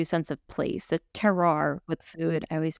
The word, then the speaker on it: terroir: it gives you a sense of place, a terroir with food. I always pronounce that word wrong, but No, you got it.